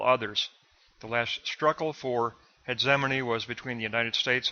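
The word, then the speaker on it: hegemony: G as DZ heane I'm going to use the G as a DZ and use that pronunciation so Black 2 is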